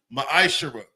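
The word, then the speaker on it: מעשר: verses 8 through 10, means 10th in the Hebrew, it's pronounced ma'ashara.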